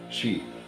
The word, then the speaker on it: Xi: XI in Chinese and the x is pronounced like an S she he's a leader of